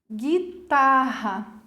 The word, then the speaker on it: guitarra: Observem que o U não apresenta som, como se eu tivesse apenas um G e um I, mas não é a mesma coisa, senão viraria gi, né?